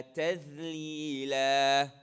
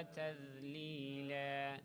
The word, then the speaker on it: تذليلا: And then the dhal, you keep it light. وذو. So there's no air inside your cheeks anymore. ذو. وذللت قطوفها تذليلا.